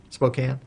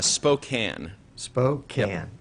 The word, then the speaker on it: Spokane: and Spokane Washington um how do you pronounce Spokane yeah Spokane okay uh Spokane spoken okay it's like Nevada that's